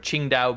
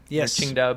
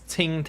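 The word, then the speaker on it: Tsingtao: This is kind of near if you guys have heard of Ching Dao beer. Chingdow beer if you go to a Chinese restaurant. It's you might pronounce it as Tinga.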